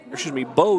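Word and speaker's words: Beau: Now in the bottom of the first, we bring up Bo Stoppenhagen, not Ben. And it is spelled in what you might call the Cajun way, the B-E-A-U spelling.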